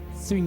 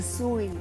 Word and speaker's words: sewing: Swing machine. Is that right? Yes. But my pronunciation, it is a sewing machine.